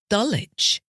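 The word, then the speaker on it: Dulwich: wi chisik c i s wi K and dullage d l w i so if you're going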